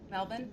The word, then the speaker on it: Melbourne: I know Melbourne. Did I sell my Did I say it right? Melbourne. Yeah, Melbourne.